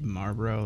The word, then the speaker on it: Marlborough: West or in Westlake school for girls like Marlborough like as in cigarettes I it's spelled a little different but I mean but